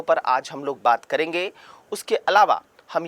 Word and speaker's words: coup: कू कहा जाता है, कू स्पेलिंग में तो COUP लिखा जाता है लेकिन होता ये कू है, ठीक है, प्रोनाउंसिएट इसको कू से किया जाता है।